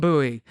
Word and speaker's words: buoy: Not Bowie, Maryland, but the comm buoy.